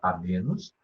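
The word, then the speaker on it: amoenus: Locus amenus, se escreve amoenos, se pronuncia amenos, é um lugar ameno, aprazível, bucólico, o que quer dizer isso?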